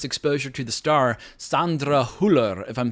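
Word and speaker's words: Hüller: correctly she's from Germany I looked up how to pronounce it online and they pronounced it with an American accent Sandra huller I was like you know what I don't think that's the way you say her name but she's having a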